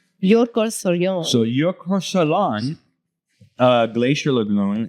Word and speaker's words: Jökulsárlón: Some Icelandic pronunciation. Jökulsárlón. Jökulsárlón.